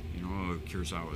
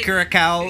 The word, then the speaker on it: Curaçao: They, no disrespect, but can't pronounce Curaçao. Curaçao is yeah. I've heard people call when it you see Curacao.